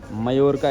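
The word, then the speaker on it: Mallorca: ये भाई पाल्मा दे मायोरका एक्चुअली भाई, डबल L जो है ना स्पेनिश में वाई प्रोनाउंस करते हैं।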